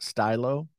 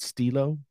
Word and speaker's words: Stylo: g8 and the budget stylo i only recently that i realized that it was probably pronounced stylo uh in my brain i always pronounced it stilo but that doesn't make any sense um i saw a